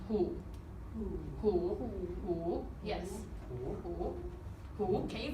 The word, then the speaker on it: 虎: And the Chinese word for tiger is pronounced hu.